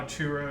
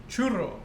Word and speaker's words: churro: Do you guys think that people want to hear how churro is really supposed to be said? Yes. Yes. So enlighten us all, please. No, you guys should roll your R's.